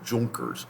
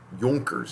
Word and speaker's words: Junkers: an alliances with the junkers or what jonkers is how it's pronounced but you see it down there as junkers junkers are the nobility